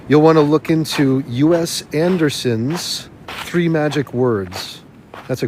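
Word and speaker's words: U.S. Andersen: want to look into US Anderson's three magic words that's a great one US Anderson that's a n d e r s n us like the USA so us Anderson's three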